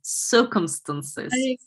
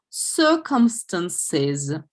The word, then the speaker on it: circumstances: so constantly does anyone know what it is circumstances uh it's difficult to pronounce but we will practice it no worries